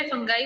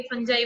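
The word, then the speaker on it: fungi: फंजाई अपना food को synthesise तो नहीं करता है, इसको कई जने फंगाई बोल देते हैं, कई फंजाई बोल देते हैं, दोनों चीजें सही होती है। ठीक है, दोनों तरीके से इसको प्रोनाउंस किया जाता है, फंगाई।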